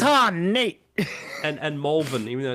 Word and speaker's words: Malvern: and Malvern, even though it's spelled Malvern.